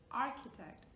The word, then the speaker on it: architect: It's not a ch sound, it's not a sh sound, it's not architect, architect. It doesn't sound like, we're used to cheese, ch, chocolate and other words. So it's a k, just like in words